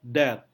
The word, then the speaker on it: debt: Kemudian ada BT, as in debt, debt.